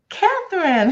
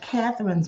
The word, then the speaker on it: Katharine: plus because your uh your name is pronounced like my mom's name so even though they're spelled differently but she was Katherine